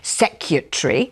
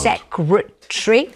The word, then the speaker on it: secretary: But you hear on Radio 4, BBC Radio 4, you hear people saying secretary. I know. As if there's no R in the middle. What's happened to the world? Secretary.